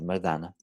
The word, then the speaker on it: Mardana: Chama-se Mardana, ou Mardana, Mardana, assim que a pronúncia é essa, Mardana.